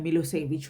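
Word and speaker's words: Milošević: Narrow minded SERB nationalist मिलोसेविक और मिलोसेविच, उनका pronunciation जो है मिलोसेविच होगा, मिलोसेविच हैड वन the election.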